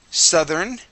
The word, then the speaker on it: southern: Southern. Southern. Saturn. All right. All right. Here. Um, make sure to put your teeth uh sorry, your tongue between your teeth.